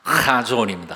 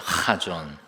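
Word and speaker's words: חָזוֹן: 거기는 이 목소리에서부터 나오는 가래침 뱉는 소리가 나오는 것이라 카존입니다. 카존. 이 카존은 꿈이란 뜻, 비전이란 뜻, 계시라는 뜻, 예언, 묵시, 환상이라는 뜻입니다.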